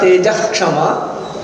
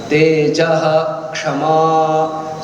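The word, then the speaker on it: तेजः क्षमा: It's not Tejah Kshama. You have to pronounce the Visarga fully. Tejah Kshama. So whenever there is a Ksha and it is preceded by a Visarga, Visarga is pronounced fully.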